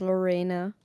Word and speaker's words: Lorena: Uh, it's little Laurai and my name is Lorena. Lorena. It is a German name so it is quite pronounced differently but Lorena is totally fine.